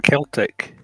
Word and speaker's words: Celtic: Celtic, not Celtic. Celtic's a football team. Of course, Celtic. Celtic. I like to call it ancient British. It's the C as a K, Yeah, but you don't use the pronunciation.